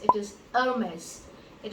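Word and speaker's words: Hermès: The next one is not Hermes. It is Hermes. It is not Hermes. It is Hermes. So the French do not pronounce their H.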